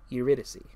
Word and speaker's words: Eurydice: Is that how you say it? Alright then. Eurydice. Eurydice. I did not expect that to be the way you pronounce it, but okay.